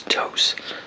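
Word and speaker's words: Tous: toast people pronounce it to or to or whatever but yeah when I looked it up it's to so cuz in Spanish that's how t o u s is pronounced but so I like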